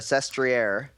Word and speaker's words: Sestriere: Contador's big win and gentlemen yesterday's stage to Sestriere was amazing first off kudos to myself for pronouncing that correctly secondly the gravel grinding was